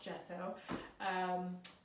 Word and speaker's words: gesso: I first got started I didn't know even how to pronounce it I called it gesso I probably went into an art store and said that so first of all gesso but I also found